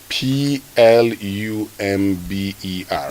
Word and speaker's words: plumber: but you know so how would you pronounce p l u m b e r oh okay plumber okay so this one